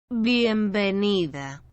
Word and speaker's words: bienvenida: welcome for spanish is bienvenida for female bienvenido for male if you listen one more time carefully you will notice that there is virtually no sound difference between letter p and letter v bienvenida when we write